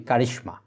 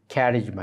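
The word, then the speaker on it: charisma: শব্দটাকে বাংলায় আমরা বলি কারিশমা তাহলে কারিশমা আর ক্যারিশমা একই কথা একইভাবে মানে ওই জাস্ট মানে কি উচ্চারণ বিপর্যয় হয়েছে বাংলায় আমরা বলি ক্যারিশমা কারিশমা আর ইংরেজিতে হলো এটা ক্যারিজমা এরকম আরো শব্দ আছে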